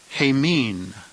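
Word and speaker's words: ἡμῖν: hours or of us the plural dative a mean a mean with possible meanings of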